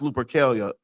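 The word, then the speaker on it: Lupercalia: Look up Lupercelia's pronounced Lupercelia. L U P E R C A L I A.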